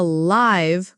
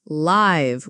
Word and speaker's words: live: But this is a live concert. That's live with a long ai sound.